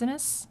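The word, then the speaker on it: Itsines: want to butcher it I always say it sends and I know that that's wrong it's anis it says I love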